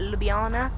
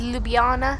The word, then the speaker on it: Ljubljana: general aviation parking here at little Jana I'm pronouncing it totally wrong on my look I think it's Ljubljana but you'll be um